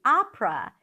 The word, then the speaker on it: opera: If you're talking about going to the opera, then you start with an ah sound, and then you finish it with pra, pra, pra.